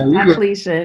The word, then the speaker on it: Diocletian: Is it Diocletian? Diocletian. I knew I was going to mess it up. Yeah, Diocletian.